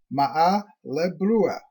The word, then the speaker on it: Maahali-Brua: Tribe 2, Maahali-Brua, pronounced Ma'a-le-Brua.